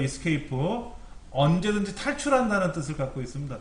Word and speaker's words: Escape: 키보드 제일 왼쪽 위에 ESC, 키보드 제일 왼쪽 위에 Escape라고 읽어요. Escape.